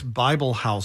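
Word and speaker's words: Bibelhauser: I'm pronouncing that right bi b e l h a u s e r David John but he was at it's Bible house he was at mcdill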